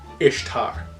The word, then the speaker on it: Ishtar: There was no Roman festival called Easter for Constantine to Christianize, and the name Ishtar is in fact pronounced Ishtar.